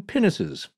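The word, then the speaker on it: pinnace: two penises i'm waiting here for a juvenile joke yeah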